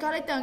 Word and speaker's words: collector: Ok, vậy collector nghĩa là gì? Collector nghĩa là người sưu tập. Nhưng mà nó có nguồn gốc từ động từ nên nó vẫn là trọng âm 2.